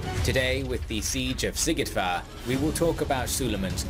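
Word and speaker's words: Szigetvár: with the siege of sigit far we will talk about suleiman's love sikidvar that's how you say it i didn't know how to say that campaign shout out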